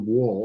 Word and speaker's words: Wall: My family always pronounced it wall, almost like the side of a building.